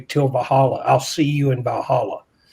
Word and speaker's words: Valhalla: I cannot pronounce that first part. Valhalla is correct.